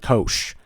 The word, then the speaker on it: cosh: But one way to pronounce them is cinch and kosh.